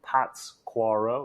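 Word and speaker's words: Pátzcuaro: town is called pasquero p-a-t-z-c-u-a-r-o so Pats quarro if you were to say it like that and it's an old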